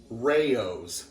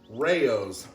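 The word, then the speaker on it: Rao's: i pronounce this route according to him it's actually rayo's now the internet can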